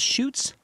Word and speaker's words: Schuetz: Where do you get Schwetz from? Shoots. There's no W.